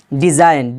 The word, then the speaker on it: design: डिज़ाइन, DESIGN, यहाँ पर भी जी एन आया है तो जी क्या हो गया, साइलेंट हो गया।